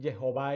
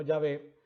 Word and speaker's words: Jehová: Moisés pues convocó a todo Israel y les dijo, vosotros habéis visto todo lo que Jehová, y pronuncio Jehová y no Yahvé, porque de acuerdo a